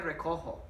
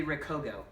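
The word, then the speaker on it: recojo: pick up the needle the present has a J in the yo form because it needs to be pronounced red Koho wrinkled hair Rico ho so you have to do that otherwise they Rico go red Quahog hey hey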